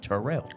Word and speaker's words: Turrell: I'm from Turrell, but the proper pronunciation is Terrell.